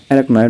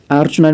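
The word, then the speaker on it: arachnoid: एराक्नॉइड matter, एराक्नॉइड matter को हमने कहा है कि इट्स अ मैटर, कोई आर्चनॉइड मैटर पढ़ता है, कोई एरेक्नॉइड मैटर पढ़ता है, इससे डिपेंड करते हैं प्रोनाउंसिएशन, ठीक, दोनों सही है।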